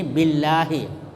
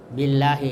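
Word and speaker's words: بالله: contoh di sini Billahi Billahi itu bi kasrah kemudian ada lafzul jalalah sesudahnya maka lamnya itu tipis billahiah bukan loh ya tapi Billah kalau loh itu itu tebal kalau lah tipis jadi bacanya Billah kemudian yang keempat ikhfa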